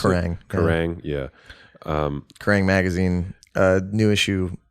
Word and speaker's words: Kerrang!: Is that how you pronounce Kerrang! it? Kerrang, yeah.